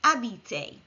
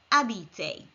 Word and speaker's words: habiter: which in French is AB remember H is silent in French repeat after me AB this is an e